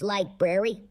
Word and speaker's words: library: It's pronounced library. The library of humanity. It's a tough one. Ragnora used to love going to that library. Yeah. You're still saying it wrong. There's 2 R's in there.